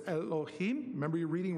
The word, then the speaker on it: Elohim: Okay, that says Elohim. Remember, you're reading right to left. Okay, what does Elohim, and that's how you pronounce it. So you would think, surely the Lord, Adonai, the Lord God, Elohim, will do asa, nothing, davar, but he revealeth,